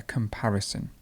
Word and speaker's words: comparison: have the word comparison please note here how the stress changes so to compare the stress would be at the end and comparison goes in the middle a comparison to compete to compete